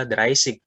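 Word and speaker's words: dreißig: Perhatikan angka 30, dia pakai RZ, dikonversi menjadi double S, dibacanya seperti S biasa kayak Indonesia, Dreisig.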